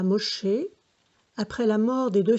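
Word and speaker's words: משה: Et puis le mot suivant, Moshe. Alors il se termine par le He. Quand le He est placé comme ça en finale, c'est une voyelle et on ne le prononce pas. En fait, on ne l'entend pas.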